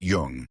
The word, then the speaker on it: Jung: Jung and it is already pronounced Jung.